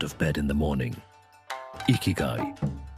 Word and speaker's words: ikigai: Ikigai, pronounced ikigai, meaning your reason for being.